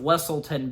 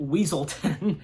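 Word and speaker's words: Weselton: and the Duke of westleton being escorted back to wlon and they once again uh mispronounce it by calling it weaselton yeah so bye-bye Duke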